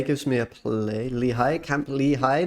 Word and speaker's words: Camp Lehigh: me a play Lehigh Camp Lehigh not camplay I always pronounce it